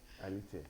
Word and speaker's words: Alethia: Is it pronounced ALETHIA? ALETHIA. All right, ALETHIA.